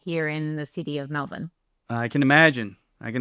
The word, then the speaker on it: Melbourne: colleague coming to us all the way from Melbourne Australia sorry Maria I I baltimor that thing